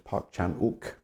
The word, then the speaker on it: Park Chan-wook: It's uh how the uh how the Korean is transcribed into a western alphabet, but the W anyway is not sounded. So, it's Parkchanuk correctly.